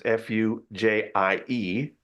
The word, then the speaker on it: Fujie: I'm not exactly sure how to say her name. It's Fujie.